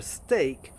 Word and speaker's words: steak: But logically, most English words with EA are an E sound. So researching it, I discovered that there are really only three words that have the same pronunciation: steak, break, and great. Those are all written with EA but have an A sound to them.